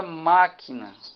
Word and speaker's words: máquina: Vamos ver aqui agora na palavra máquina. Qual é a sílaba tônica dessa palavrinha?